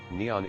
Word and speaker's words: Nihon: The name for Japan in Japanese is written using the kanji and is pronounced Nippon or Nihon.